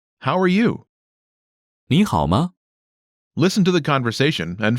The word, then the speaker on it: 你好: 你好吗？ First is 你 you. 你 Next is 好 good. 好 Pronunciation note. When there are two third tones in a row, the first one changes to the second tone.